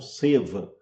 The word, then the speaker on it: Seva: vezes utilizando o termo Seva, que geralmente se pronuncia como Seva, que é a pronúncia em Hindi.